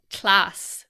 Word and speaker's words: class: to class, is pronounced class by many Navajo English speakers. Yeah. So it's a tl sound, which hard to describe, but it's a very different sound from the k, l sounds.